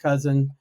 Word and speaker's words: Kousen: So my last name is pronounced cousin like the relative even though it doesn't look like it.